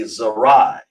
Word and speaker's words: zarai: seed it would be zarai so to pronounce that we'll say zah then we say raw we won have it up there yet that's the raw right there then we say I okay that's that word